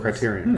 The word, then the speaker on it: Criterion: that was created by Crichton Games, who Burnout and Need for Speed and all those. Criterion. Criterion, I mean. Yeah. You're right. My bad. Pronouncing it wrong.